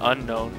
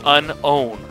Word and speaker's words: Unown: yeah unknown you mean that's not unknown that's unnown that's un not known that's Unown what there is no K there's no K but the way it's yeah I know but the way it's pronounced no they've been saying it wrong all this time then I want everybody right now to know oh that's not how you say it u n